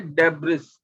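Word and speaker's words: debris: वाली लैंग्वेज अब देखिए लिखा है डिब्रिस एसबीआई और हम बोलेंगे इस डेबरी साइलेंट अब मुझे बताइए कि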